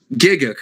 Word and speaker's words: Gigguk: Gigguk, okay. Gigguk. And then Scamboli Reviews, who I've never even heard of before. Yeah. Look at Roger, you, Jay. Not personal- even on the list. Personal opinion, Gigguk would not be entertaining.